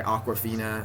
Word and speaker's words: Awkwafina: It's by Awkwafina. Awkwafina is spelled Akwafina. It sounds like the Aquafina water, but she spells it differently.